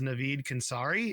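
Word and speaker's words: Navid Khonsari: I believe it's Navid Kansari is how you say it.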